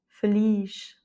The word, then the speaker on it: feliz: Et donc, dans les deux cas, de toute façon, l'accent tonique se fait sur la dernière voyelle. Abril. Nariz. Feliz.